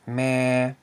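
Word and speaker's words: ແມ່: And this word is pronounced as meh, which means mother.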